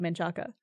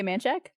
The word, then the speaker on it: Manchaca: down south, and I used to call it Menchaca Yeah. until I was told multiple times by multiple people that's incorrect. It's like you're insulting us.